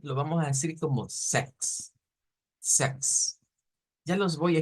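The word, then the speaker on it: sechs: El 6 en alemán lo vamos a decir como Sex, Sex. Ya los voy a escribir para que tengamos una idea más clara de ello. Y el 16 lo vamos a leer como sextens, sextensen, sextensen, sex y sextensen.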